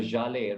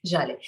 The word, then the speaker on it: Zhalay: Which is why a lot of people pronounce it Zille, but Zille नहीं है. ZHALAY can't be Zille.